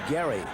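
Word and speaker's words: Gerry: Spells it G E R R Y, but he pronounces it Gary.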